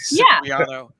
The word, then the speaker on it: Cipriano: Cipriano. Sip of water. That's how exactly.